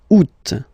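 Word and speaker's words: août: options because uh well two options are acceptable in French the first one you don't pronounce the final t o o second one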